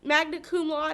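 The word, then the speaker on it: magna cum laude: CP was actually um magnet Kum L is I think how you say it so he was very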